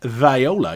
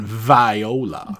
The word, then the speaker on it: Viola: out to our cat viola you were right on the name pronunciation Viola see it's not Viola it's like a southern lady barin says I can